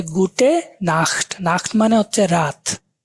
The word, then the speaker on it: Nacht: তখন আপনি বলতে পারেন যে গুটে নাখট। নাখট মানে হচ্ছে রাত, তা NACHT, নাখট। এগুলার উচ্চারণ কিরকম হবে আমরা ক্লাসে অডিও থাকবে, আমরা দেখব।